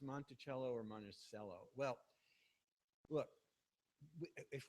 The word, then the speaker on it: Monticello: spoke Italian and monello means little Hill or hilock in Italian so we're pretty certain that that he did pronounce it monello now you I thought